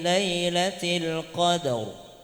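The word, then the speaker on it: لَيْلَةِ الْقَدْر: Maka cara bacanya inna anzalnahu fi lailatil qadr. Rnya tebal.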